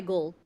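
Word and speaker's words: Gul: you pronounce your name i go by gold it's g-u-l yes could you spell that again g-o-u g-u-g-u-l g u l okay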